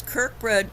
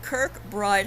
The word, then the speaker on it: Kirkbride: So as you can see, these Kirkbridge mental institutions were conveniently built right before the mass immigration.